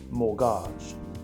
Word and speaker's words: mortgage: is guge it's a French word and it's pronounced morage the first syllable Mort means death like Mortuary